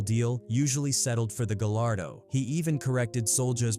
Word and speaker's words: Gallardo: When they want a big dog car like this, they go get the Gallardo. That's how you really pronounce it, not Galargo.